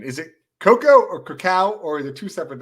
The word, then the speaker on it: cacao: same thing well um cacao is the way people pronounce the bean that we make cocoa from see not a chocolate